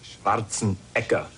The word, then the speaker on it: Schwarzenegger: Actually, in Austria, they pronounce it Schwarzenegger.